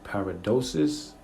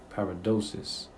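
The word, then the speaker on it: παράδοσις: is very important uh the pronunciation is paradosis paradosis okay it says the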